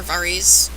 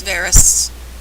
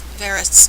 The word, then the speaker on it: Varys: varus tells him and why do people keep calling him varus or varies it's varus it's varus just listen to the way the people pronounce names on the show that's the in my